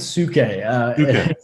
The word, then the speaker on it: Svu: Yeah, I pronounce it Suke. It shouldn't be pronounced that way, but it is.